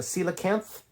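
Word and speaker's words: coelacanth: I'm guessing this is kilopicis like the se or cilopus like the cilacanth c is pronounced like an s the cilac being that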